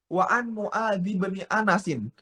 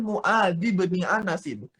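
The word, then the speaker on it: معاذ بن أنس: Wa an Mu'adz bin Anasin. Gitu cara bacanya. Wa an Mu'adz bin Anasin.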